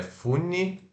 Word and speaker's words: funny: Se escreve F-U-N-N-Y e né, funny, mas se pronuncia, ó, funny. Ó, esse aqui é o O relaxado. Funny. funny, Depois temos, é bem parecido com o português, né?